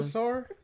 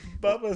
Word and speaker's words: Bulbasaur: It's not Bulbasaur. I didn't know. It's Bulbasaur. Bulbasaur.